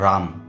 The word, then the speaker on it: राम: इस सिंबल का नाम है राम। इसका प्रोनाउंसिएशन ऐसे होता है र आ है, रा मैं है, इस प्रकार से होता है, लेकिन आप इसको राम भी बोल सकते हैं।